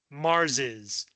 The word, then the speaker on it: Mars': You still pronounce it Mars's, Socrates's.